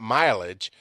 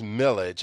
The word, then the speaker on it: millage: in my ll AG it's not mileage it is millage I know I'm pronouncing it correctly I'm not sure exactly